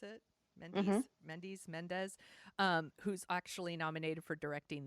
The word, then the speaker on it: Mendes: it's directed by Sam Mendes it's how you pronounce it Mandy's Mendes who's actually nominated for directing this year for